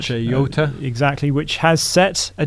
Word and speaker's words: Jota: Lamborghini, the SVJ, for Jota or Yota, depending how you pronounce it. Yota.